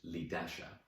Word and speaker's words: Leah: Leah, pronounced Lidasha, Tia Maria and Shamara all sneered.